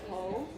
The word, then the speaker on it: H: Some tune that Nike H in Swedish is pronounced ho.